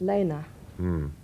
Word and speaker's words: Lene: about Elena love it a lot of people he pronounced it Lina by the way but Lena is the proper pronunciation yes I've heard lots of different variations yeah well but it you know I t been spelled like Lena but yet pronounced Lena well it's a foreign name you see the first part of my name is German and it's pronounced Lena okay second part is you